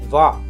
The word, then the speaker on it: は: इसको प्रोनाउंस किया जाता है वा, लेकिन लिखते हैं हा, HA हा। कंफ्यूज मत होइएगा।